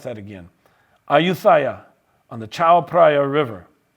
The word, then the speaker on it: Ayutthaya: The Kingdom of Thailand was established at Ayutthaya. Let me see if I can pronounce that again. Ayutthaya, on the Chao Phraya River.